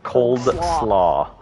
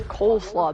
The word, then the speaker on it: coleslaw: that it's cold it's a cold slaw it's coleslaw there's no do you know what i'm talking